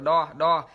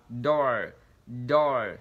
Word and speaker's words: door: cánh cửa đọc là door, door. Thì cái âm này chúng ta nhớ là cái âm open và đi với cái âm r nên miệng chúng ta sẽ nhỏ lại, chúng ta đọc là door, door.